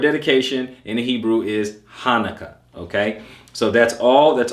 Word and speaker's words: Hanukkah: 98 okay so keep that in mind it's pronounced Hanukkah okay dedication Hanukkah same thing it is Hanukkah